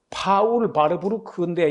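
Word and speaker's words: Warburg: 연방준비제도 제1대 이사로서 독일 이름은 파울 바르부르크인데 이걸 영어식으로 발음하면 폴 워벅이 됩니다.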